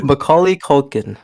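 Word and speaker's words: Macaulay Culkin: McCaulay Kulkin.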